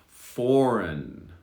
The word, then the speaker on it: foreign: me we're doing well now here we have two silent g's are you ready foreign foreign people who